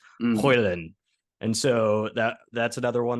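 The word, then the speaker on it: Højlund: And then so Hoyland came in, but he says the D is basically silent. You swallow the D. So it's Hoyland.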